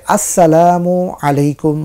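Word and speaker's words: السلام عليكم: দরকার সেটা হচ্ছে যে আমরা সালাম দিতে গিয়ে অনেকে ভুল করে থাকি যেখানে বলা হয়েছে আসসালামু আলাইকুম ওয়া রাহমাতুল্লাহ আসসালাম সুস্পষ্ট উচ্চারণ আমরা করব কিন্তু দেখা যাচ্ছে যে আমরা অনেকেই ফ্যাশনেবল সালাম দিতে অভ্যস্ত হয়ে পড়েছি সেখানে সালামের জায়গায় সাম বলছি বা সালাম বলছি যার অর্থ অত্যন্ত ভয়াবহ যার অর্থ হচ্ছে ধ্বংস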